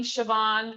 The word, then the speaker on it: Siobhan: irish name siobhan like if i look at the name siobhan i have to remember that it's pronounced completely differently than what i would expect from the spelling so same for gouache